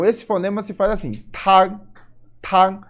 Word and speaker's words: tang: Começa a letra T, ela vai ser um pouquinho diferente do português. A gente vai falar soprada. Tag.